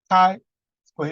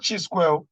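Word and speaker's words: chi-square: t test ki square test this thing is pronounced kai square it's not ch square it's k allow f test f test so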